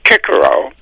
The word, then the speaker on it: Cicero: Uh there is a wonderful quote on the financial markets by Cicero or if you were a Roman then it of course you pronounce it as Kickaro and he pointed out